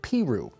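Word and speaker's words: Peru: This is the town of Piru. Okay? So it's not possibly how you would expect that anybody would ever pronounce it.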